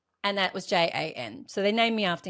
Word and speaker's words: Jana: It's like my name is spelled J A N A. But but I'm telling everyone my name is Jana. So don't don't call me Janna just because it's spelled like that.